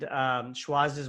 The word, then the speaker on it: Schwazze: And let's spell it out for them. So so it's SCHWAZZE, Schwazze.